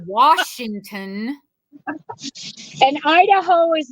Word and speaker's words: Washington: might get shot and Washington does not have an are in it that's right it is Washington and Idaho is not